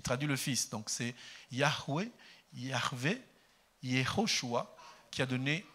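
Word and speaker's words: Yahweh: le père il traduit le fils donc c'est yahweé yAHVE Yoshua qui a donné jésus-chist mais nous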